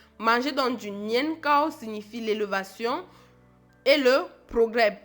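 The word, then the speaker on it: 年糕: Son nom est un jeu de mots en chinois nian qui signifie année, cao qui se prononce comme cao qui signifie haut ou élevé. Manger donc du nian cao signifie l'élévation et le progrès.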